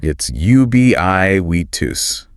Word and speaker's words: ubiquitous: It's ubiquitous. So stress on that second syllable.